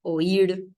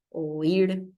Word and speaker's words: oír: ya que estamos qué pasa con esa palabra oír oir Por qué lleva tilde oir voy a poner acá sin tilde voy a